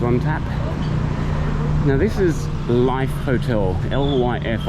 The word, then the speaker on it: LYF: Now this is Life Hotel, L-Y-F. I would pronounce that Lif. I presume it's pronounced Life.